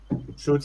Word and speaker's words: Zoot: Shoot se escribe Z-O-O-T y Shoot de Suit, o sea, los disturbios de los trajes Zoot.